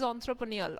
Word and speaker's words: entrepreneurial: This is entrepreneurial, onthro, not inter. Okay, the pronunciation you need to remember, this is E-N-T-R-E. You must not pronounce it as A. It should be onthro, entrepreneur or entrepreneurial.